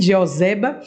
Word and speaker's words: Jeoseba: a jeba o Zé o Zé baba a pronúncia e joseba então ela essa mulher ela ela cuidou dessa